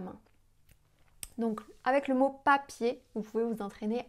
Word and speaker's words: papier: Si vous voulez vous entraîner un petit peu, vous pouvez par exemple dire le mot papier, papier en français. Si on met la main devant la bouche, papier, on sent pas d'air.